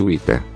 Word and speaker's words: vita: O semiconsonante V era pronunciada como W em inglês. Por exemplo, vita. Parvos são pronunciados respectivamente Wita, parvus, com W similar ao inglês.